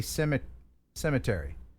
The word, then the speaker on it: cemetery: By the way, I like the way you say cemetery. Cemetery. Yeah, you just take a syllable out and it sounds classier.